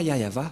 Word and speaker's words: Yahvah: par exemple vous êtes pêcheur si vous ne prononcez pas yayava vous êtes directement un pêcheur si vous dites